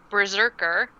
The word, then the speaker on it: BRZRKR: Keanu Reeves is set to star in a film adaptation of his comic book, which is called Berserker, but it's spelled Brzrkr. Yeah, that's how you spell it.